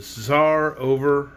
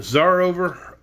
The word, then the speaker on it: Czarover: sar over of herku sarovar is spelled c-z-a-r like old russian czar over c-z-a-r-o-v-e-r so i'm assuming that makes them the zar over herku the tsar over of herku let's find out trot awakened